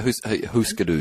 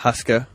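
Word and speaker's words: Hüsker Dü: Is that the right way to say it? Yeah. Huskadoo. Huskadoo. Not Husker. Husker.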